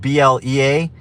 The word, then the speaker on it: Blea: His name is spelled B-L-E-A, so I like to call him Blee the Flea. But his name is actually Blea.